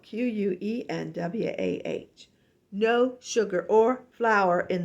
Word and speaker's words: quinoa: And quinoa is spelled Quenwah.